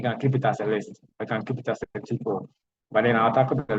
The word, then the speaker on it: tuple: There are list and there are tuples. So some people call it tuple, the second part, but I pronounce it as a tuple.